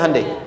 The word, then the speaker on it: Hyundai: bikin Honda sini Handai hyundaikan dibacanya Handai sana Honda apapun yang